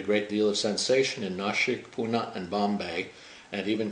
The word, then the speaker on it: Nashik: The reason for that is because Nashik is actually spelt with a diacritical dot over an S, N-A-S-I-K, which in Sanskrit means that the S is cerebralized, so you roll a tongue back in your mouth and you get